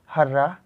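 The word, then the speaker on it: hurrah: लेते हैं जैसे है हर्रा जिसको लिखा है एच A double R ए एच ठीक है इसका प्रोनाउंस एशन हर्र लिखा है बट इसको बोलेंगे नहीं हर्र ठीक है इसको बोलेंगे हुर्रे ठीक है बहुत जगह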